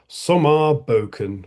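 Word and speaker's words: Sommarboken: Anyway, and I hadn't even realized that I could have pronounced this one in a foreign way as well because of course it's actually called Somar Boken.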